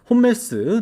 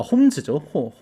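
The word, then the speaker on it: Holmes: 오늘 경기는 로드리게스대 홈 그 이제 홈멜스 나오는 경기인데 아 홈즈죠. 홈메스 홈즈라고 얘기했죠. 얘는 홈즈죠. 홈즈라고 읽어야 되는데 그랜트 홈즈.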